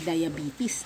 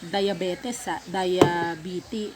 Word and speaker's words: diabetes: high blood na may Diabetes na hindi diabet Diabetes Diabetes ang tama ha Hindi yung I